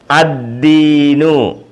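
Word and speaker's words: الدين: ദീനുൻ ദീനു അദീനു അദീനു ലാം ഉണ്ട് ലാമിന് ഉച്ചാരണമില്ല അലിഫ് അ പിന്നെ അത് കഴിഞ്ഞിട്ട് ദാലാണിത് ദാല് ദി ഇകാരചിഹ്നം കൊടുത്തപ്പോ ദി എന്ന് വായിച്ചു ശദ്ദ് പിന്നെ ശദ്ദ് ദി പിന്നെ വീണ്ടും ദീർഘാ ക്ഷരമായ യാ കൊടുത്തു നീട്ടിയിരിക്കുകയാണ് അദീനു ദീനു അദീനു ഹിദായത്തു ഹിദായത്ത ഹി ദാല്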